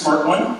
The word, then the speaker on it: SMRT1: all you smart one it is pronounced smart one we get a lot